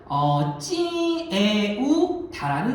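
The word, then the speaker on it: Triệu Đà: 자, 사실은 이 국가를 세운 사람이 누구냐면 자, 인물은 찌에우다라는 사람입니다. 이게 이제 한자 발음으로는 조타라 발음하는 사람이에요. 찌에우가 조, 다가 타로 번역되는 글자인데 자, 찌에우다가 왜 중요한 사람이냐면 시기를 보시길 바랍니다.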